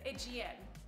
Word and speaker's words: Aegean: We have the blue and the, I already forgot how to pronounce it, Aegean.